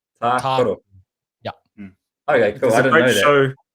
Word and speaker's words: Tākaro: So it's the first A has like a double A, like Ta Karo. Tākaro.